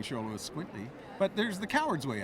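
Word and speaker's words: Xoloitzcuintli: phonetically how to pronounce this how do you pronounce ITA it's sholo is quintly it's Spanish uh this was this is a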